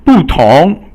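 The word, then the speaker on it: 不同: So 不同 means different. So fourth tone and then second tone.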